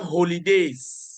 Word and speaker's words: holidays: Please, we have holidays. okay. We have Holidays. holidays. You must pronounce the H.